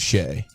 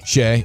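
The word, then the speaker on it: Shai: was Giannis LeBron and shy gilgis Alexander or is it Shay I say Shea okay speaking of name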